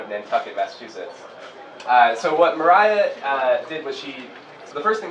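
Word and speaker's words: Maria Mitchell: So that is pronounced Mariah, despite the spelling that looks like Maria.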